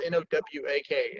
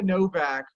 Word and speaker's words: Nowak: So, but it's pronounced with a V, because in Poland the W makes a V sound, and we have a separate letter that makes the L sound, or the W sound, I should say.